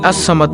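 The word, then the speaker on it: الصمد: এই আস সামাদ নামটি হল আল্লাহর 99 টি নামের মধ্যে একটি নাম। আল্লাহর এই গুণবাচক নাম আসসামাদু এর জিকিরের আমল ও ফজিলত তুলে ধরা হলো| নামটির সঠিক উচ্চারণ হল আসসামাদু অর্থ হলো তিনি কারো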